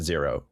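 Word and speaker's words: Z3R0: It's kind of like how my name is spelled Z3 R0, but it's pronounced zero.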